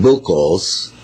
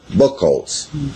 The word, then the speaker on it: Buchholz: bill calls was warned in Germany on December 24th 1878